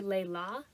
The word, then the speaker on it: Layla: I know that 2 isn't that much, but, like, her family calls her Layla. That's how they pronounced it in the audiobook.